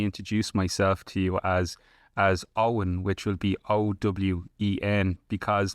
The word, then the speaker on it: Eoin: in Irish, so you know the name Owen, that's Owen, that's the actual original. Sure. My name, Eoin, is the original spelling, but when the English invaded, they made us all spell our name phonetically.